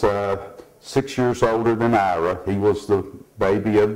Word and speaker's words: Ira: his name is i-r-a Ira but the uh we always grew up calling Ari we never did pronounce his name correctly growing up and my wife didn't